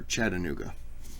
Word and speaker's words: Chattanooga: the top of Lookout Mountain overlooking Chattanooga or Chattanooga and that's how you say it but I